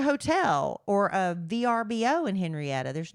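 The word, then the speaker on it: Henryetta: Henrietta. Henrietta. Not Henrietta, Texas. And it's spelled h e n r y e t t a.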